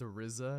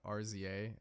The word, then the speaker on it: RZA: uh I'm stupid uh his name is actually pronounced arizza not rer um I'm dumb others